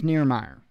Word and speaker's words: Nirmaier: Nirmaier, and I hope I pronounced that correctly. I'd asked him just to make sure that I was getting the right way to say it, or at least close. So I believe it's Nirmaier.